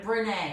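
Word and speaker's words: Brené: Brene.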